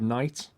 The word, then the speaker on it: knight: same with the word Knight you know like as in a um what Kings used to have Knights it's the same it's KN it's silent k it's a bit like